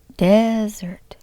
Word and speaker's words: desert: Desert, desert, desert.